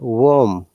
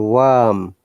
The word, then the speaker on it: worm: But worm or worm, look, it is a singular R. There is only one vowel sound. We can ignore the R sound in British IPA.